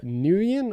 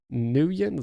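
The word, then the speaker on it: Nguyen: heroes real quickly uh nuyen i think that's how i should pronounce it nuyen so it's a very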